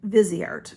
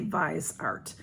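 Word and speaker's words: Viseart: $260 this is now I've always said vizy art because I didn't know how to say it but I've been hearing people say visce art it's v i s e a r t this is a $40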